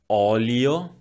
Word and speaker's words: olio: The vowel O could be open, olio, olio, or closed, dolce, dolce.